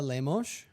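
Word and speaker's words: Lemos: Amanda Leos, right?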